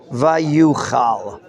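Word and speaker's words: ויוחל: So it's written Vayochel, but it's pronounced Vayuchal. Let's read it. If we pronounce it Vayuchal, Shiv'at Yamim, Lamoed Asher Shmuel, V'lo Shmuel Gilgal, Vayafet Ha'am Me'alav.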